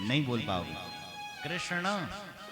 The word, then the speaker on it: कृष्ण: नहीं बोल पाओगे कृष्ण, टेढ़ा करना पड़ता है ना, कृष्ण नाक से उच्चारण। हमारे व्याकरण में यम गणना नाम नासिका च, इन शब्दों का उच्चारण नासिका से होना चाहिए। तो कृष्ण कृष्ण ऐसा होगा, नाम भी टेढ़ा।